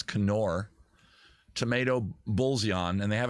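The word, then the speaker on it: Knorr: bouillon from kenor kenor I know that you pronounce the k you're wrong if you're saying nor it's Conor tomato bullseyon and they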